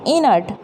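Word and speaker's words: inert: तो यहाँ पर क्या किया हमने, इनर्ट, ई न, इन, और फिर अर्ट। अ के लिए हमने क्या लगाया, अ, आर हमारा साइलेंट रहेगा, फिर क्या आया हमारे पास, ट, इनर्ट।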